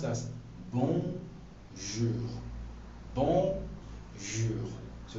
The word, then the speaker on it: bonjour: Alright, so now it is pronounced as bonjour.